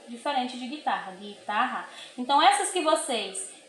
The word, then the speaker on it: guitarra: E as que vocês não pronunciam o U como guitarra, você vai escrever na letra B.